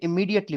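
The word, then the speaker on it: immediately: इसको आपने इमीडिएटली पढ़ना है, जे की आवाज नहीं बोलनी।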